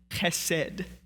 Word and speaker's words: chesed: She uses the Hebrew word chesed, very stereotypical Hebrew word because you get to use your throat in the pronunciation of it. It's the word chesed.